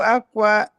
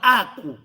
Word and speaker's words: Aku: Enkumbu aqua nganani. Aqua não, Aku. Aku.